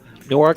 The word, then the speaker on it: Newark: yeah Class of 84 new ark High School Newark Delaware wow Newark no Newark is in New Jersey new ark is in Delaware new ark new ark the way it's spelled look newk yeah you